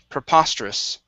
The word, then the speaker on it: preposterous: here is preposterous so our stress is right right here in the middle preposterous preposterous okay very nice very nice